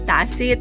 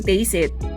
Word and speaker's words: Taste It: two taste it well i initially pronounced it as tacit but the korean version sounds closer to taste it there are plenty of